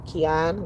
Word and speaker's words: Keon: Keon, lion. It's spelled like lion with a K.